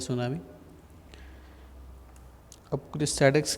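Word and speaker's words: tsunami: ये सुनामी भी आप, ये टी सुनामी, इसको सुनामी पढ़ते हैं. टी साइलेंट होता है इसके अंदर.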